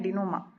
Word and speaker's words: denouement: ये कॉमेडी में होता है बेसिकली डिनोमा, इसकी प्रोनाउंसिएशन है डिनोमा।